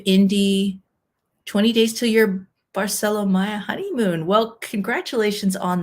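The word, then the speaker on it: Barceló: my sales rep that you say it Barcelo as in Barcelona but you know certainly for all of my life I assumed it was Barcelo okay just different pronunciation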